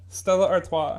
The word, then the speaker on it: Stella Artois: it's like famous enough to the where the pronunciation is like knowable I did it yeah yeah Stella Artois not to make fun of you making could